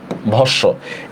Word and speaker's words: ভস্ম: ভস্য শব্দের উচ্চারণটা হচ্ছে ভ তালব্যস্য হসন্ত, তালব্যস্য ওকার। দেখছেন ভস্য। এখানে কেন আমি ওকার দিছি? কারণ একটা যুক্ত বর্ণ কিনা বলেন তো? ভস্য। আর যুক্ত বর্ণের মধ্যে কোনো অ উচ্চারণ কি হয়? ও হয় না।